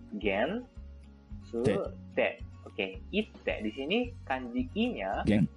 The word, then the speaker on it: 行って: Di sini harusnya dibacanya adalah ite teman-teman.